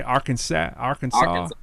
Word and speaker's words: Arkansas: You say Arkansas. All right. I make sure that's how I say it. I don't know if it's like Hawaii. You got some inner like Arkansas or something.